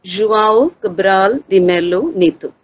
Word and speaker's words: João Cabral de Melo Neto: It's pronounced as João Cabral de Melo Neto.